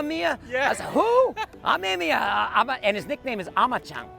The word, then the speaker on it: Amemiya: Can you pronounce his name properly? Amemiya.